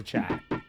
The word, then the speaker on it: chat: If it even happens to cats, it happens to chat. Cat and chat are only two letters apart.